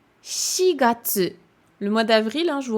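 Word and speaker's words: 四月: Là, on avait dit yonhyaku, mais là, par contre, ce sera shigatsu.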